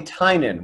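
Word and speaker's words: Tynion: watch game of thrones yeah but it's actually tynan with an end so i would make sure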